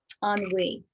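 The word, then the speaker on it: ennui: um medical manual so i'll read from that on we one pronunciation on we on we also henry two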